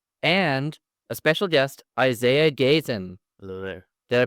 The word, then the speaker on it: Gayton: I have on today Denis, Max and a special guest, Isaiah Gayton. hello there. Did I pronounce that right?